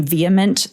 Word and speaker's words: VHEMT: the New York Times, they insist that you pronounce their name VHEMT.